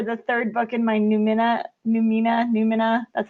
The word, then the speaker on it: Numina: I'm waiting to get dev edits back from my editor for the 3rd book in my Numina. That's how you say it. Numina.